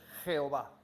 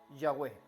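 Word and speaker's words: Yahweh: yahwe y por esto nosotros pronunciamos una mezcla de adonay y yahvé y pronunciamos Jehová pero una mejor pronunciación sería yahwe saben estos escribas no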